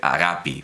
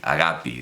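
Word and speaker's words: αγάπη: la versión de presa se pronuncia a la moderna y se dice agapi porque ahora los griegos laita que era entendemos larga y cerrada la han cerrado tanto que han convertido en una I agapi dice bueno en fin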